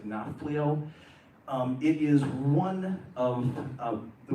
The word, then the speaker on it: Nafplio: So one place, the place where we started in Greece this time it looks like Napoleon. In Greece, it sounds like Nafplio.